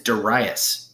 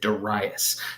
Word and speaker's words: Darius: Another strategy that Darius the Great had for, by the way, his name is Darius. Pronounce it Darius.